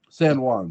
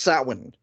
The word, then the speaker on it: Samhain: the only actor in the Halloween franchise who pronounces something right. San Juan, sorry. So he pronounces it right. That's not how it's pronounced. Oh, well, hey, according to him, it is. Okay. It's pronounced Samhain.